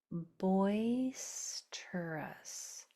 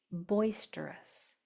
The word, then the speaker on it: boisterous: And then here's an o us suffix. O us s says us. You don't hear the o short u.